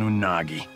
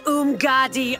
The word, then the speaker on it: Umgadi: So what's life like as an Unagi? It's Umgadi, Earthrealmer. I told you that it was hard to pronounce.